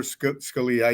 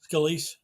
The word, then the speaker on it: Scalise: be, because they're not going to vote for Scalia, even though I think Scalia, is that how you pronounce his name? Scalise.